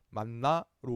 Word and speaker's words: 만나: 발음은 뭐 만이나 또 만후라고 발음합니다. 만나로 우리는 발음합니다.